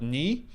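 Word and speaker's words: ny: land we're going to call it knee which is how you say new in a region and this is really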